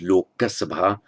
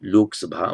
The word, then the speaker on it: Lok Sabha: In Sanskrit, it would be pronounced Loka Sabha. In Hindi, Lok Sabha.